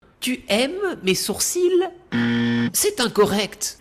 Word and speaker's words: sourcils: Tu aimes mes sourcils c'est incorrect. l'Académie française précise bien qu'on ne prononce pas le L comme dans les mots gentil et outils vous ne dites pas gentiL c'est comme dans le